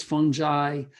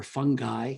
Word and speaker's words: fungi: pretty small they're molds fungi or fungi depends how you want to pronounce it uh pollen um endotoxins